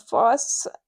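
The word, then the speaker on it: Phos: a cool sketch of young Foss in Moon Foss is how it's said the Foss Foss f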